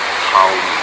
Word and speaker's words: Haum: But when we do Uccara, we pronounce this bija mantra Aum, spelled A-U-M, or Haum, H-A-U-M, the H being almost silent but riding out on the breath.